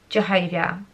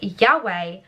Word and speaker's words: Yahweh: the tetragram centuries ago english scholars thought it was a pronounce pronounced jehovah today most agree yahweh more closely represents the covenant names of